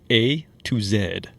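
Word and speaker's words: A II Z: is a band called a to zed which is how they say it in England now we would say a toz right but they say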